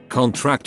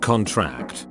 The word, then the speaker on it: contract: Stress on the last syllable is a verb. Examples: contract and contract. The former is a noun. Sign this contract, whereas the latter is a verb. The muscles contract. Same with record, address, impact,